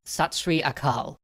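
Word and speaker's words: Sat Sri Akal: over as the fires burned bole so nihal satsri akal or shout aloud in ecstasy true is the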